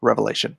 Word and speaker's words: Revelation: a Bible comic do revelations if you're gonna say revelation say it correctly it's singular not plural that's where all the